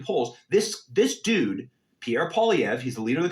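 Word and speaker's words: Poilievre: there's this a dude named Pierre POV is the way you pronounce it and dude is uh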